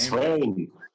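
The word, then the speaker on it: Sveum: Swaim. Dale Swaim. Swaim. Yeah, the V is pronounced kind of like a W.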